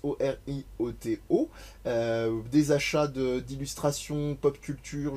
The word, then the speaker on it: Orioto: que vous retrouvez sur Orioto, @Orioto sur tous les réseaux des internets, et ça tombe très bien parce que ça s'écrit comme ça se prononce, Orioto.